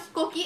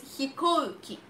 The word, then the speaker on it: 飛行機: It's not 飛行機, it's 飛行機. Don't forget the U after 飛行機.